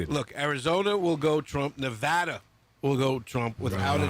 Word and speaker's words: Nevada: if you notice Danielle I pronounce it correctly Nevada not Nevada I do appreciate that